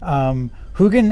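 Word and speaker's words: Huginn: named huggin and moonen when i was a kid i pronounced him huggin and munnon i think i was confusing them with heckle and jekyll who are a totally different set of crows hugin and moonen are also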